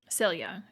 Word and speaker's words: Silja: Celia, that's how it would be pronounced.